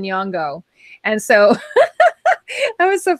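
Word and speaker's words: Nyong'o: I said Nyong instead of Nyongo.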